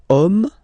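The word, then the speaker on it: homme: we get the word om man okay but then it starts with Ash as in French Ash is not pronounced so the first sound that we hear is O Okay and then it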